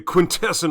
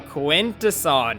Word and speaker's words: Quintesson: Stephens to voice lockdown during his prep period perfect and he could not pronounce that word I was like quaint to son he was like quintesson I was like no no no Quintus on Quintus so at that point I